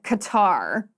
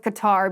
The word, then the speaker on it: Qatar: controversy surrounding the World Cup being held in Qatar or Qatar. Some people pronounce the name of this country in two very, very different ways. I'm going with Qatar because that's what I prefer to say.